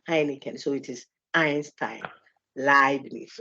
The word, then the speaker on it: Heineken: People say Heineken. No, it's Heineken.